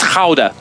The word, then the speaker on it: Gouda: long rodrigo says uh it's pronounced howder because it's dutch like it's gouda venta